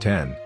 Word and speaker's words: X: iPhone X, EXE pronounced 10, where X is not a letter but rather 10 according to the Roman numerical drawing, is a smartphone designed,